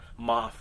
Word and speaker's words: Maff: to call him Dan Maff. I just know it because I I never really knew how to pronounce his name until the pay-per-view. I was saying Maff all these years. It's Moff, so excuse me.